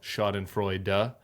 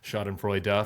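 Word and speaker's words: Schadenfreude: enjoy that level of shod and Frey du I hear you readit Commander shod and Frey du four syllables uh I'm going to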